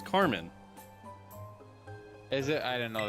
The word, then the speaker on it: Carmine: don't know why yeah it's spelled the same but when you say it in a feminine way it's Carmen is it I didn't